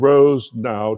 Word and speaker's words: Rosenau: as well is that Richard Rosenau took me a while to understand Rose now two syllables runs people analytics for